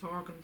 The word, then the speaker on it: Horgan: And her surname rhymes with mine. Her name is Dorgan, and my name is Horgan.